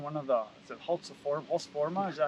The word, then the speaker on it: Husqvarna: Now, one thing that I've never run one of the, is it Husqvarna, is that how you say it?